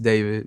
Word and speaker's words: d4vd: Um pronounced David, not D4VD.